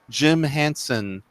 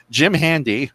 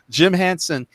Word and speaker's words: Jim Henson: happy that it is a prequel is apparently Jim Henson. Did I say his name right, or did I get his name wrong? You got it right. Okay, thank you. Jim Handy. Damn it! Jim Henson.